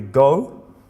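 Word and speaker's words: 五: It's pronounced either go, or if you're counting things, it's a bit complicated in Japanese.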